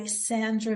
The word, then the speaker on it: Szandra: And it's by Szandra, and that's spelled Szandra. And thank goodness for us here in the United States that Z is silent.